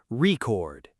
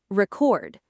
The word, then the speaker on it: record: Say the noun form first with stress strongly on the first syllable. Record. Record. Record. Now the verb form stress on the second syllable. Record.